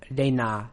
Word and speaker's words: Reina: Pronunciation-wise, just keep in mind that all the syllables are short, there are no long syllables in it, and also remember that the a at the end of reina does not become like we have a habit of doing in English.